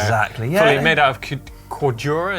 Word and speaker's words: Cordura: Fully made out of Cordura, is that how you say it? Cordura, so really hard wearing